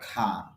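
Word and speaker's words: car: চালায় আখা একটি গাড়ি কার হবে না উচ্চারণ হবে খা কারণ পিটি খে সি কিউ এই পাঁচটি লেটার হল এসপিরেশন অর্থাৎ এগুলো যদি শব্দের প্রথমে আসে বা সিলেবলের প্রথমে আসে তখন আপনার মুখ থেকে অতিরিক্ত বাতাস বের হবে তখন কার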